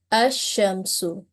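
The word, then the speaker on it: الشمس: idgham of lam, and this word will be pronounced as ash-shamsu. So you will have noticed that lam sound is completely merged while pronouncing this type of lam in a noun.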